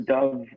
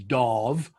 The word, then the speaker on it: Dov: pronounce it that way my name is not dov that's a bird it's darv like a dog but with a bee dog i've always talked